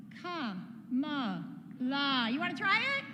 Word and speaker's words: Kamala: That's 3 syllables, right? I've got another word with 3 syllables. It's ka-ma-la.